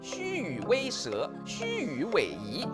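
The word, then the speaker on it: 虛與委蛇: 衍應酬，它的正確讀音是虛與委蛇、虛與委蛇、虛與委夷、虛與委夷。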